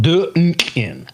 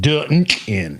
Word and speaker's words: Dunkin': So that's how you spell it. Dunkin'. That's how you pronounce it. Dunkin'. If you pronounce it any other way, you're wrong.